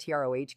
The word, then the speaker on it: troche: The lozenge or troche, pronounced TROH dosage form, incorporates the